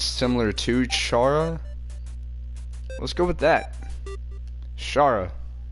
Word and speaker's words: Chara: The name is Chara, although I pronounce it as Shara.